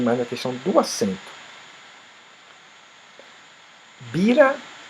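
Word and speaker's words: בירה: Bira se escreve igualzinho, só muda o acento. Bira quer dizer capital. Considerado como hoje, moderno capital. Birá já quer dizer. Perdão. Birá quer dizer capital. E bira quer dizer cerveja.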